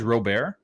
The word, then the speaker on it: Robert: even even like louise robert it's not even luis robert you know the way that he pronounces his last name is robert robert it's luis robert what is he french